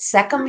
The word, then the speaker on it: Sekhem: you've got to fix this if I don't pronounce it right but seum healing yes seum healing yes so tell me